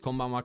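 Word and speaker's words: こんばんは: Is your pitch at, can I hear it one time, Stalker? Can you say it? Yeah. It's like this. It's like this, Stalker. Konbanwa. Konbanwa. Konbanwa. It's like, you see how it goes up and down?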